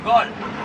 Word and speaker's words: Galle: Gol. Gol. Is that how you pronounce it? Yeah. Gol? G-A-L-L-E, Gol.